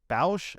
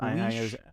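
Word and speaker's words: Boushh: Bausch? Oh, I'm so sorry. But yes, Boish. Wait, sorry, what did you say? You said Boish? Boish? Boish. It's Bausch. Boussh. Bow?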